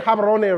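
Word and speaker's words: Gaborone: I was like, you're saying it wrong. You're saying Habarone wrong. Because apparently I'm putting an A where there should be an O.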